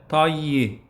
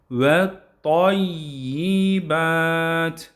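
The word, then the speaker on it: الطيبات: Burada y harfinin şeddesine de dikkat etmeliyiz. Ona da üzerine basmalıyız. Vayyi değil. Vett tayyi değil. Ve tayyibat ve tayyib şeklinde.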